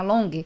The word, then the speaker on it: Longhi: O meu nome é Long, se escreve Longhi.